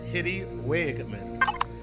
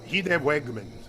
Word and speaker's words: Hidde Wagemans: Hidde Wagemans. I said Hitty Wagemans. And he's from the Netherlands, so he's Dutch. It's a Dutch name. That helps how to pronounce that. Yeah. So Hidde Wegman, maybe.